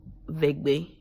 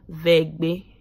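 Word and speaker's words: Eʋegbe: In my language name is called Vegbe. Again, I'm gonna pronounce it again, Vegbe. That's how you say it in my language, but in English it's called Ewe.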